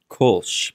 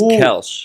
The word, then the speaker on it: Koelsch: Well, the German pronunciation is Koelsch, but in the Americanized is Koelsch.